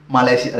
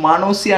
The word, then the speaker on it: মালয়েশিয়া: দেখে আর ঘরের বাথরুমকে মালয়েশিয়া দেখে, বোঝাই যাচ্ছে। মালয়েশিয়া? মালয়েশিয়া, মালয়েশিয়া তো ঘরের পাশে। হ্যাঁ বললাম না মালয়েশিয়া ঘরের পাশেই। হ্যাঁ বাথরুমটাই মালয়েশিয়া, আর ওটা মানসিয়া নয় মালয়েশিয়া। আগে উচ্চারণ করো হ্যাঁ ঠিক করে।